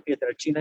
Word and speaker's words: Pietrelcina: es amplio el 3 pietrelcina o de pietralcina se escribe pero se pronuncia piedra china en italiano yo soy en ese